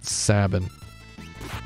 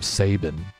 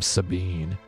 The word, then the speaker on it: Sabin: do I pronounce saben I pronounce it like cabin yeah it was weird